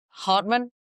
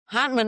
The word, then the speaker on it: Hantman: Well, today I have the pleasure of having Aaron and I'm going to say your last name wrong. Hartman. Hman. Hman.